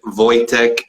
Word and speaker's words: Wojtek: and foremost you gotta help me with the pronunciation of your name is it voytek or yeah exactly yeah okay good uh uh